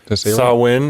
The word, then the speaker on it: Samhain: Samhain is how it's pronounced, but it's actually spelled Samhain. It's a weird Celtic word. All the Celtic words are pronounced not like they look.